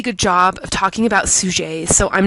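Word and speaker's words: Suger: sky named Abbott Suchet his name kind of looks like it's spelled sugar su ger but it's pronounced sujey and he's kind of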